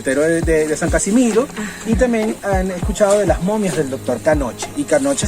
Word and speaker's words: Knoche: Knoche, ceux qui parlent allemand, bien sûr on a tous une deuxième langue et on sait tous comment prononcer ça Knoche, c'est à fond de gorge, mais quoi ?